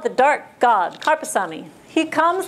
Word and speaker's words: Karuppaswamy: So, again, his name is Karpasami. Those of you that are Tamil, this is not difficult to say, but for those of you, you have to get used to the pronunciation Karpasami.